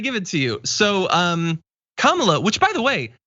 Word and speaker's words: Kamala: who was on, said her name is pronounced comma, like the punctuation mark, Kamala.